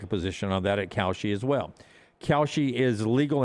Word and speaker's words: Kalshi: It's spelled, if you're listening, Kalshi, Kalshi.